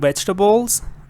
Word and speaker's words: vegetables: a lot of different vegetables uh this one is also very important be careful that you see the word table here but it's not table it's Tuple vegetables okay vegetables and then